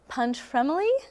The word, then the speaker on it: Pontremoli: Fest, and I'm here with Managing Director Pontremoli.